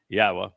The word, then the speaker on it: Yahweh: And four, he told us how to pronounce his name. Yahweh is from haya.